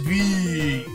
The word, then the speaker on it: VVVVVV: designed and created the game he called it V so we're calling it that just V so basically our hero Captain vidiian that's you